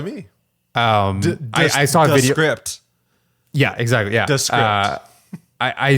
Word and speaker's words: Descript: So it's an app called, I think you pronounce it Descript. So basically, script, but D in front of it.